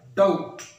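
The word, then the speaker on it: doubt: इसको यूं पढ़ना चाहिए, इसको यूं पढ़ना चाहिए कि इसमें बे लिखा हुआ नजर ना आए, यानी बे की आवाज़ ना आए, डाउट डाउट।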